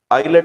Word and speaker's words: islet: Beta cells or islet of Langerhans.